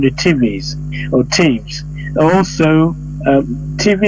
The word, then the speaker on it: Tiv: Also, TV is spelled TIV, but they call TV.